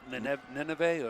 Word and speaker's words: Nineveh: That's Daniel Nineveh or Ninev. Nenev? 6 feet. Nenev? Well, it's pronounced it here, Nineveh.